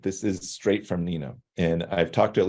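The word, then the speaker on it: gnina: It's pronounced Nina.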